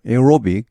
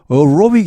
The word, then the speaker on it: aerobic: aerobic. 근데 원어민들은 그렇게 발음하는 경우가 별로 없는 것 같습니다. 오히려 여기 A는 거의 무시하고 aerobic 이렇게 많이 발음하는 것 같습니다.